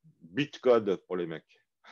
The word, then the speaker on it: bytecode: truc qu'on appelle du bytecode. Bitcode pour les mecs. Bytecode, le Y se prononce byte.